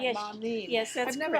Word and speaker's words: Marneen: Am I pronouncing your name right? Yes, Marneen.